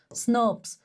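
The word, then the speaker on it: snRNPs: So this is what the RNA splicing is and here you can see so basically snurps snps how do we pronounce them snurps right?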